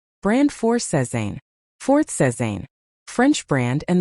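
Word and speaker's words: Sézane: Brand four, Sezane. Fourth, Sezane, French brand and the pronunciation is Seaison with a soft emphasis. Nothing sharp about it.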